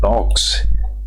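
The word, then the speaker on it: Knox: while philosopher such as John नॉक्स नोक्स में देखो के साइलेंट रहता है फिलोसोफर जिसका नाम है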